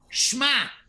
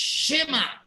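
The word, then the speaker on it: Shema: the two dots which is so therefore you pronounce it shi mos not schmos schmos is incorrect just like shma is incorrect it's shima we should know what the second book of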